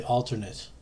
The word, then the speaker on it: alternate: alternate or whatever, but you really pronounce this word as alter, knit, like you're knitting a sweater.